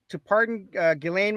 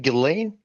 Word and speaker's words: Ghislaine: But yeah, he was considering pardon Ghislaine Maxwell, and now he is walking that back.